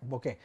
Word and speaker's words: bokeh: si queréis llamarlo así y se pronuncia exactamente de la misma manera que se escribe se hace escribe veo acá es h punto se pronuncia bokeh esto lo digo por